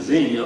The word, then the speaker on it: Xenia: Sailors Orphans Home in Xenia, Ohio. And Xenia is spelled Xenia. I don't know why they pronounce it Xenia, but that's what it is.